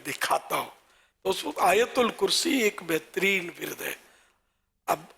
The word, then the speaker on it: آیت الکرسی: اچھا وہ آیت الکرسی، آیت ال، اس میں لوگ اس کو بھی آیتل یا آیتل ہے نا، آیتل کرسی، آتل کرسی، یوں بھی لوگ بول دیتے ہیں. تو اصل تلفظ ہے آیت الکرسی.